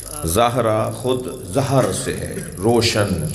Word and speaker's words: زہرا: کر رہا ہوں کہ ہمارے ہاں اجلت میں جلدی میں زہرا کہہ دیتے ہیں، صحیح تلفظ زہرا، زال پر زبر۔ کہتے ہیں یا رسول